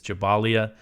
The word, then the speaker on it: Jabalia: The report said that the residents of Jabalia or Jabalia, I've been saying Jabalia, I think the proper pronunciation is Jabalia. I've heard people kind of say both. But the report said that